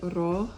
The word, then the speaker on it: rojo: So, red is rojo, and sometimes in Spanish we roll the R's, so it's like rojo, and then our J's are always an H sound, rojo.